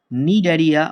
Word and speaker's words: Cnidaria: Porifera, নিডারিয়া অর সিলেন্টেরেটা।